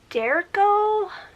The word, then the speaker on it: derecho: out that it was something called a derecho and that's how you say it I just seen it